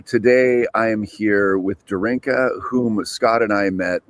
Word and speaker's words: Darinka: It's Darinka.